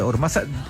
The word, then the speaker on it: Hormaza: Estamos también con Ormaza. ¿Pronuncié bien tu apellido? Perfectamente. Sí. Casi en euskera lo has pronunciado, con la Z.